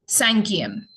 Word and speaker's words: cinquième: So fifth we have here written, it's cinquième.